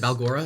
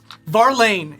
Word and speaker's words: Varlane: Is it Balgora? Is that how you say it? Varlane is his name. I wanted to make sure I Varlane. had that right.